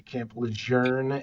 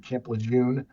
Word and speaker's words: Camp Lejeune: You had said you're next to uh Camp Leour. I just learned that today. Camp Leern is the correct pronunciation of I've always said Camp Lun. So now it's Camp Learn, I guess is the correct pronunciation, but um